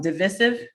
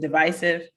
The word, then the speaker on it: divisive: has two pronunciations yeah with a long i sound on the second syllable and with a short i sound on the second syllable so either way the